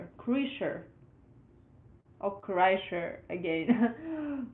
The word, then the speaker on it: Kreischer: It's pronounced Kreischer. Oh, Kreischer again. Crusher?